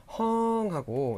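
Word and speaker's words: ห้อง: 분들은 이게 장모음 어라서 헝하고 시중 교재나 이런 데는 장모음 표기가 돼 있는데요. 실제 발음은 짧게 하셔야 됩니다. 그래서 짧게 헝 하셔야 돼요.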